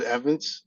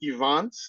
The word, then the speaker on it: Evantz: It's spelled Evantz, but I pronounce it Evans. It really depends on who's talking to me. Okay. If it's higher clientele, if you want to call me Evantz, I respond.